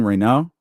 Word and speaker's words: Raynaud: But I believe it's Maxine Reno.